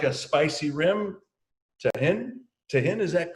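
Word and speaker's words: Tajín: If you like a spicy rim, Tahin, is that correct? Is that the way you pronounce it? Yeah. Tajin.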